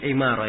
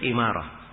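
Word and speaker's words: عمارة: Bin Imarah ya di kasrah. Semua yang nama Umar begini tulisannya dibacanya Umar kecuali 1 nama. Ini dia 1 nama ini yang diperkecualikan. Dibaca Imarah.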